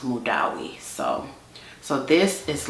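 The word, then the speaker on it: Madawi: with my English American accent I would have pronounced that MWI but uh this lady that speaks Arabic she told me that this is a like female name and it's pronounced mudawi so so this is like a peach fragrance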